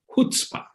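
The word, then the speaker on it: chutzpah: yeah it is spelled chu but it is pronounced khutspah it is a english word is a kind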